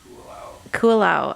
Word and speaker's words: Kualoa: Kualoa.